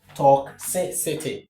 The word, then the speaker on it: toxicity: Therefore, the right way to pronounce this word is as toxicity toxicity.